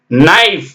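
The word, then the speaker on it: knife: இந்த இடத்துக்கு பேரு நக்குள் நைஃப் நைஃப்னா தெரியும் கத்தி k என் ஐ எப் இ ஆனா கே போடணும் என் ஐ எப் இதான் உச்சரிப்பு நியூ அறிந்துகொள் நீல் நோனுடைய பாஸ்ட்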